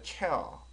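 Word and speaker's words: chair: 발음이 나와 있습니다 에어 R 발음을 살짝 집어넣어서 혀를 당겨 주시는게 발음이 좀 괜찮은 거 같아요 어가 나 있잖아요 포어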